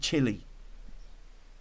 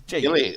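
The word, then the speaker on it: Ghilley: Is it Gilly or is it Chili? I don't know how to pronounce it. It's Gilly. Gilly. Like a ghillie suit.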